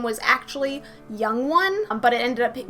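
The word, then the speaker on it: 영: same general meaning of young one which translates directly into korean as forever so in korean zero is pronounced young and then you have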